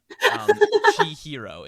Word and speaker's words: Chihiro: But like, Chihiro is, so it's Chi-hi-ro.